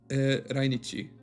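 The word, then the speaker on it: 来日: It is pronounced rainichi, which is like raishu, next week. Nichi is day. Rainichi would be next day. No, it actually means visit to Japan.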